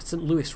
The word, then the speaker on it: St. Louis: Louis, that's got St. Louis rather. It's the American pronunciation because it's an American city.